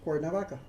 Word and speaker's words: Cuernavaca: I don't know what it means, but it's now pronounced Cuernavaca.